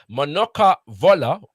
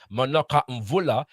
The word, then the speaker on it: Manuka Mvula: Manuka Vola, which is more properly pronounced in Bakongo, Manuka Mvula, hailed from Morant Bay.